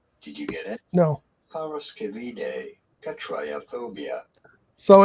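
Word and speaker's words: paraskevidekatriaphobia: do you go about I pronouncing am. this? Freaking terrified. Triaphobia. Did you get it? No. Parascevide catriophobia.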